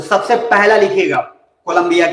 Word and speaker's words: Cali: अब कोलंबिया जो आप लिख लिए हैं, तो कोलंबिया के अंदर कुछ कुछ बातें हैं जिसको लिखना बहुत ही नेसेसरी है। तो सबसे पहला लिखिएगा कोलंबिया के अंदर, और वो जगह है that is very important, Santa Marta.